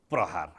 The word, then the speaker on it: प्रहार: यसको शुद्ध उच्चारण के हो? प्रहार। हेर्नुहोस् है त, 2 अक्षरले बनेको शब्द प्रहार। यसको उच्चारण प्रहार। प्रहार। यसको उच्चारण यसरी गरिन्छ।